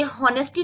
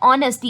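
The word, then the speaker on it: honesty: ऐसे on abstract concept such as ऑनेस्टी, ये हॉनेस्टी नहीं होता गर्ल्स, ये होता है ऑनेस्टी। इसमें जो एच है वो साइलेंट होता है और इसको हम रीड करते हैं ऑनेस्टी।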